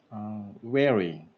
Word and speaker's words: wearing: Sir, you're pronouncing the letter R like R, wearing. Sir, try to make it more subtle.